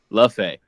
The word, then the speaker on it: Le Fay: Lafae.